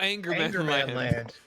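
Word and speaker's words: Ångermanland: But it's Angerman Land. Like Angermanland, all one word.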